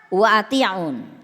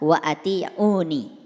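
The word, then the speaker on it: وأطيعون: lihat ayat ini fattaqulaha watiun nah ini sebetulnya dibacanya harusnya fattaqulaha wa atiuni dibacanya harusnya begitu fattaqulaha watiuni bertakwalah kepada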